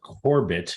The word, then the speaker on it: Korbyt: There's a company called Korbit. It's spelled Korbyt, and they are out